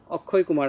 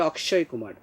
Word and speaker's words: অক্ষয় কুমার: যেমন ভারতের একজন বিখ্যাত নায়কের নাম তোমরা জানো, অক্ষয় কুমার আমরা বাংলায় বলি, ওরা বলে অক্ষয় কুমার। তো সেখানে কিন্তু তোমার ওরা মূর্ধন্যস্য উচ্চারণ করে, কিন্তু আমরা বাংলা ভাষায়